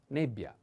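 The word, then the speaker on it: nebbia: and e like and the word is nebia the accent is on e but pay attention to this double consonant like pioja ja in this case double b bia is a female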